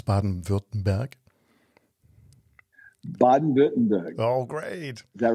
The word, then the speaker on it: Baden-Württemberg: Can you pronounce Baden-Württemberg? Baden-Württemberg.